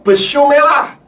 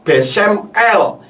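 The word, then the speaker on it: בשם אל: Saudara lihat, Pak Ustadz membacanya Besumelah, Besumelah. Padahal jika rangkaian huruf Bet, Sin, Mem akhir, dan Alef, Lamed itu membacanya bukan Besumelah, tetapi Besem El, yang artinya di dalam nama El.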